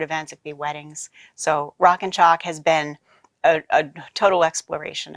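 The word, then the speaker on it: Rockin Chalk: all that yeah sure rock and chalk now I have to spell it because it sounds like shock but it's like a chalkboard rockin ro ckin ch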